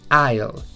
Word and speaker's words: aisle: No se pronuncia ni con E ni con A, sino que es aisle, y la S además no suena.